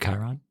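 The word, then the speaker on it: Chyron: Is it Chiron?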